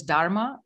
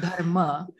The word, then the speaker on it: dharma: their own dharma by the way it's not pronounced as dharma it's dharma and one of the one of the things